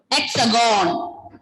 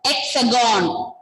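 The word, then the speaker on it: Hexagone: Hexagon. The nickname of France is lexagonal. We. You can just say hexagon. Hexagon. When you exam also write this way, this spelling. Hexagon. H will be silent.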